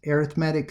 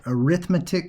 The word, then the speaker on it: arithmetic: One is arithmetic sequences and geometric sequences. Okay, in one case, some people call it arithmetic sequences, but I think it's technically pronounced arithmetic.